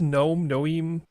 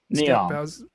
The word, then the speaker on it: Neom: And so in this anime, we've got Brasilia sitting around being chill, and then how do you pronounce this? Noem? Neom.